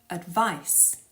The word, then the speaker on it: advice: a moment okay so the word advice which is a noun as in let me give you some advice that word finishes in a s sound which is unvoiced s no vibrations advice and the word advise